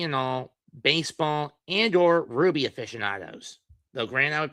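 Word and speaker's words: RWBY: The rights owners to Ruby, spelled RWB Y, not RUB Y, cuz man is an acronym, not the name of the gem.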